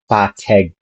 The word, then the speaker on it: pateg: But in Ilocano, it's not aspirated. So it's T. No air expelled from the mouth. 10 versus 10. Teg versus teg. So an English speaker would probably pronounce ipat pateg ka, which can be